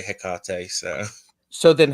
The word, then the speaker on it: Hecate: that say like how Shakespeare said you know Hecate you know that and I suppose there's no right right or wrong way if it works for you but I say hiar so so then how do you pronounce the